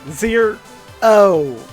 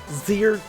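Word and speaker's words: Zer0: get to Zer Z Zer o Zer not zero why is this ability called zero spelled with a zero in place of the O I don't know but let's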